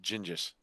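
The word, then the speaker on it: Genghis: No, it's pronounced Gingis.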